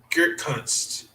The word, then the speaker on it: Gutekunst: It's Brian Gutekunst. I can't think if that's how you say it. Gutekunst.